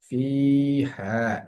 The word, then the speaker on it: فيها: ফি হা, এখানে এসে ফা এর মধ্যে একালিফ টান হচ্ছে ফি হা। জের এর বাম পাশে জজমালা ইয়া আসার কারণে ফি এখানে টান হলো, এবং হাতে টান হচ্ছে জবরের বাম পাশে খালি আলিফ আসার কারণে।